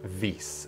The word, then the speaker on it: Vis: According to the wiki of the actual mod, it's pronounced Vis, V-E-E-C-E, although it's spelled V-I-S.